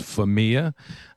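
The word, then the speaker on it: Famiglia: this is familia she's pronounced my last name is family a couple times so let's just get it right for the record is famiy ax should be back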